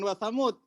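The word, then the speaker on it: ثمود: Ya, dia kalau riwayat Hafs dibacanya apa? Wa samud. Dibacanya pendek. Samud, wa samud. Ya. Kalau wakoh di wasamud bukan wasamuda, bukan wasamud. Ya, semua kata wasamuda ini selalu pendek.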